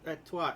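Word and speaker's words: Étoile: It's pronounced Etoile basically.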